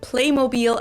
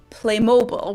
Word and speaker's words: Playmobil: did it with t-mobile they kept the german pronunciation of it for the american market too in the us commercials they call it playmobil as well even though in everyday life i've also heard americans pronounce it as playmobil which sounds very different and yeah i think